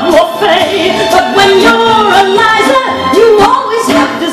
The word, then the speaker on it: Liza: I don't mind being humbled or trampled or trounced, but it does drive you past to be Liza, not Lisa with an S, cause Lisa with an S goes snuzz.